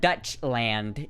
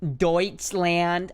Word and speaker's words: Deutschland: it's like the Dutch it's not Dutch land it's douche land you know it might be I might be totally wrong on that I might be saying that completely wrong and looking like a total ass actually it's pronounced Deutschland I'll have you know